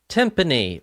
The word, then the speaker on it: timpani: Timpani rhymes with symphony.